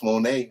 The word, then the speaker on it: Moné: against Mercedes, the GOAT Moné. And not you didn't say it right. No, you didn't say it right. Mercedes the GOAT Moné.